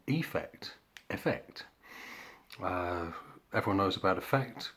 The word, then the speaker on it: affect: it at some point i pronounce it as affect to distinguish it from effect effect everyone knows about